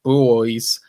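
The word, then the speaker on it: Buoys: Sydney based Indie rockers the booys that's spelled bu y s so just in case you're wondering about the pronunciation or are set to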